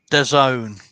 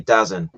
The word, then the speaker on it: DAZN: That's how you pronounce it. The Zone, as in the zone.